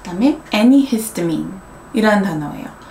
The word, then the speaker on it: antihistamine: 느낀 게 미국에 있는 현지인들은 그러니까 T 발음이 안 난다. antihistamine, antibiotics 그렇게 주로 더 발음을 한다라는 거를 알려드리고 싶었어요.